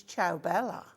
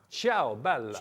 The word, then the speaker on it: Ciao Bella: And it's a big name in the craft world, and it's Ciao Bella. Ciao Bella. Ciao Bella. You've got to say it like that.